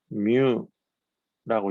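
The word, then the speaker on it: μ: 읽을 때는 뮤라고 읽고요. 얘는 마이크로라고 하는 말로도 읽어요. 원래 이 글자의 이름은 뮤, 요 글자 이름이 M인 것처럼 요 글자 이름은 뮤인데 이 글자의 뜻은 마이크로라는 뜻을 갖고 있다고요.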